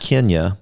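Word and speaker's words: Kenia: you say her name kenya kenya because k-e-n-i-n but it's pronounced like the country yeah okay and then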